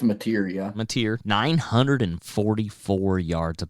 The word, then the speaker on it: Mateer: You got, is it pronounced Mateer for Oklahoma? I think it's Mateer, yeah.